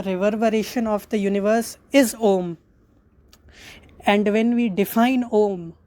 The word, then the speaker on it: Om: So the first syllabus is a or akara. Second syllabus is u or ukara, and third syllabus is ma or makara.